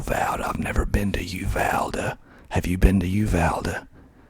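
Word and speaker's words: Uvalda: kind of doing this on the fly okay you valda you valda spelled u v a l d a u valder you vowed i've never been to you valda have you been to uvalde if you have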